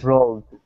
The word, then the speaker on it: rolled: Push the tongue back just a little bit more so you can get a duh sound.